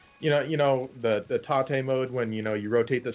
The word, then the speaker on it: tate: And rotate? It's the second half of the word rotate.